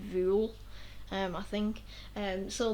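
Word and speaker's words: Vuhl: it if you want it's v-u-hl but you pronounce it vuel um i think and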